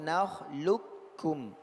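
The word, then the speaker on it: نخلقكم: Contohnya nakhluqukum. Ada 2 cara bacanya, ya. Boleh 2 cara bacanya, tapi yang muqaddam yang pertama yaitu nakhluqukum. Dia menjadi kaf. Ya, huruf qaf menjadi huruf kaf bertasydid.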